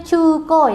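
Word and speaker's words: 中古: Ini dibacanya cuko ya minasang ya.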